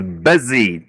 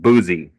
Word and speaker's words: busy: Okay, Ellie, this word is busy, not boozy.